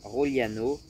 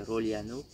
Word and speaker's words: Rogliano: Et ensuite de ensuite tu as Roliano, Rogliano. Mais en vrai, du coup ça doit se prononcer Roliano. Donc Roliano pareil, c'est c'est très sympa.